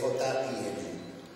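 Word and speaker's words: djin: cultura aquí tenemos principalmente jeans se escribe d J i n jin los hay Pues en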